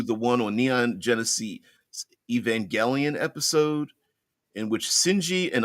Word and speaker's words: Evangelion: uh Evangelion which I I think is pronounced Evangelion like like evangelicals because you know they